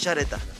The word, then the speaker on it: Yareta: El nombre es Yareta. Yareta. Muy bueno. Se escribe con Y o doble L.